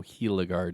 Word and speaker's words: Gila Guard: guard or gila guard now it's spelt gilegard but a lot of you say kiloguard so i assuming this is a real thing i would go by how it's normally pronounced so hilagard it is now this mask comes